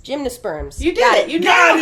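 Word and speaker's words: gymnosperms: first gimos sprs let me make sure I pronounce that right cuz I always get plant wrong gymnas sperms gymnos sperms you did it you got it yes got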